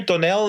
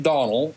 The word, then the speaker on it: Donal: Don Donell in here Donell is that how I pronounce your name it's actually pronounced Donal it's the the Scottish variant and uh people who